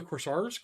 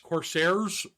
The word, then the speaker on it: Corsair: unit except for the corsar Corsair for some of you guys let me say it correctly um I think they're